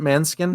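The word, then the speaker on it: Måneskin: Uh the one that the band it's spelled like four skin. Uh man man skin.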